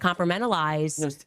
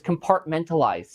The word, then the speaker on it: compartmentalize: You got if you can't compartmentalize. No, sweetheart. It's compartmentalize. Just take that one more time.